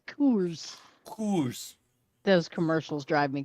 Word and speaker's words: Coors: You got to say it right. It's Kors.